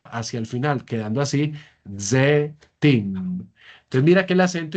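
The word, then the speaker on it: זֵיתִים: Z, Z, Zetim, ¿no? Miremosla acá. Ahí quedaría, para decir olivos en hebreo, yo digo zetim. En hebreo moderno se lograría escuchar la iod, sería zeitim. Normalmente así se pronuncia, pero nosotros estamos todavía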